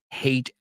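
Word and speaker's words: Haight: that aspect the Psychedelic years without talking about hate ashberry and yeah the pronunciation is oio right so C is I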